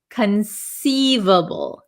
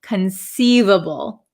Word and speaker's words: conceivable: word is conceivable conceivable so this C uh is not a hard C it is a soft C conceivable conceivable okay so conceivable means